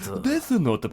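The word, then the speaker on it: デスノート: Because I love the Japanese, you just you say it phonetically and Desunoto. Desunoto, please. Desunoto.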